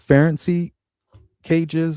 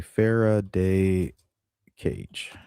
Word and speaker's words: Faraday cage: Ferency cages or I think it's something like that where it blocks the signal.